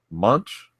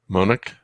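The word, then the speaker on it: Moench: destroyer denied we have a writer Doug munch munch and we decide we pronounce that monik monic we've got Doug Doug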